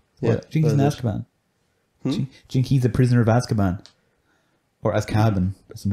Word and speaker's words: Azkaban: read a lot was prisoner of azkaban but he pronounced it as cabin and he just like